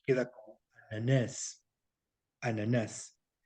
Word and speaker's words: ananás: En cambio, la palabra piña se lee en portugués ananás, ananás. No se alarga, se acentúa. Por eso ese cantadito que tienen los brasileños sobre todo. Ananás. Porque en Portugal dirían ananash, ananash.